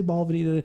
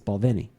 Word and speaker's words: Balvenie: She's like, she's like, a lot of people say Balvenie. She gets, it's Balvenie. Like, okay. So the accent is on the Ven.